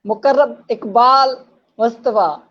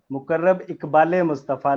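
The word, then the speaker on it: मुकर्रब इक़बाल मुस्तफ़ा: मुकर्रब इकबाल मुस्तफ़ा। मुकर्रब इकबाल मुस्तफ़ा, like कायदे इकबाल है आजम ई आता है ना बीच में, इकबाल जी जी जी, मुस्तफ़ा।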